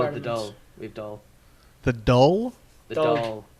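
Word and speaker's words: Dáil: over there parliament oh we call it the doll we've doll the doll it's d a fodder like l but it's pronounced doll because a okay a with a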